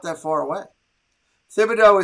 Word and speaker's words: Thibodeaux: not that far away thibodeaux is pronounced tibo do is it it's a hard t okay thank you steven